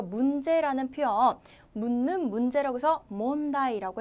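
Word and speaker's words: 問題: 아는 느낌의 환자인데요 문이라고 하는 발음을 읽으실 때는요 몽이라고 읽어요 그래서 문제라는 표현 묻는 문제라고 해서 몬다이라고 해 주시면 되겠고요 질문이라고 하실 때는 즈몽이라고 해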